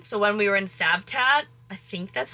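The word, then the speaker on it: Cavtat: when we were in sabtat I think that's how you pronounce it please don't drag me in the comments but it's spelled with a c but it's pronounced with an s that is how he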